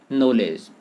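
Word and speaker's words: knowledge: भिन्नता दिखाई पड़ती है उदाहरण के लिए देखें नॉलेज अब नॉलेज में के न्यू का उच्चारण नहीं हो रहा है जबकि वर्ण लिखे जा रहे हैं उसके बावजूद भी एक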